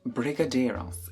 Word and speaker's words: brigadeiro: 7 years ago, called BRIGADEIROS. Is that how you pronounce it? I don't know how you pronounce it. This is how you pronounce it. Brigadeiro. Brigadeiro. So I've just butchered that.